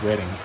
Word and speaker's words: Reading: I definitely like this I want to call it reading but I think it's pronounced reading uh reading lines I love